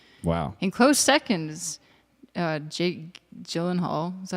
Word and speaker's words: Gyllenhaal: In close seconds, Jake Gyllenhaal, is that how you say his name?